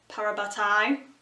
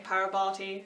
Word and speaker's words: parabatai: Alec working together as parabatai I'm pronouncing it correctly this time not saying parabot like I used to but seeing them